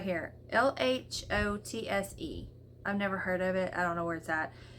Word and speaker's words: Lhotse: Lhotse.